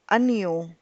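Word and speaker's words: año: anu so which means while pronouncing we'll believe that there is an i after the n so it becomes a neo and then the word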